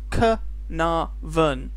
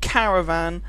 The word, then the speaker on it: Caernarvon: quick word on pronunciation kaven not Caravan not kav I've heard a a bunch of different ways of pronouncing this don't blame me